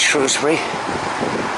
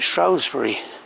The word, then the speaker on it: Shrewsbury: It's a busy place, Shrewsbury.